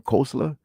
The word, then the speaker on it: Koestler: I pronounce his name Koestler, where pretty much they're saying that historically the 12 tribes of Israel, right?